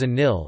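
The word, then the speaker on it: النيل: The Nile, Arabic, Al-Nile, written as Al-Nil, pronounced as a Nil, is a major north-flowing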